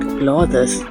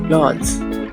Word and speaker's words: clothes: Not clothes, it's clothes.